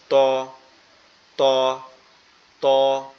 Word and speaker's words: ত: জিহ্বার আগা সামনের উপরের দুই দাঁতের গোড়ার সঙ্গে লাগবে, লেগে নরম আওয়াজে উচ্চারিত হবে ত, ত, ত।